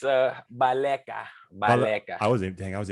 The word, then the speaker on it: Baleka: you say about the you know it's uh baleka i wasn't thinking i was even close though